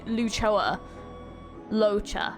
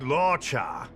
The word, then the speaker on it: Luocha: was it again laa his name is laa I always say it wrong I keep saying L Lucho laa okay that's right laa came to the with